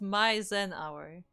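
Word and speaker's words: MyZenHour: It's My Zen Hour. That's how he told me.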